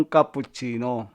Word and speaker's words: cappuccino: Paano ba na-invento talaga yung cappuccino? No? So, dumako naman tayo sa tamang pagbigkas. Cappuccino, hindi po cappuccino o cappuccino. Cappuccino.